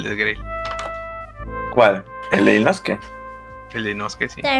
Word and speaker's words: Inosuke: ¿Inosuke o Inusuke? Yo le digo Inosuke. ¿Por qué eres así? ¿Por qué? Pues Inosuke. La U no se pronuncia.